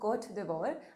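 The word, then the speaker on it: Côte d'Ivoire: the covet pandemic this question was addressed to court devore i finally learned how to pronounce the name of this country and in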